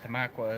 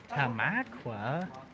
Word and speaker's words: Tamaqua: both town uh which tamaqua is one of those pennsylvania towns that you have to be a pennsylvanian to pronounce correctly because everybody else would be like what tamakwa there's a lot of